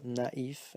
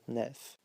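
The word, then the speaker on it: naïf: to be careful because if there is this accent on an I after an A, remember to pronounce them separately, so naif and not nef.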